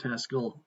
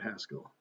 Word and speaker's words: Haskell: know I haven't used Haskell in a few years I still I still don't always pronounce it to uh to rhyme with rascal which I understand is the correct is the correct uh pronunciation so if worry mod